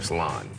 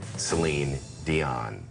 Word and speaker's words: Céline Dion: the Beast came out they knew it wasn't it's aligned or salon at that point they got Celine Dion the exposure earned Celine